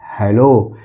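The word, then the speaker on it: who: Hello.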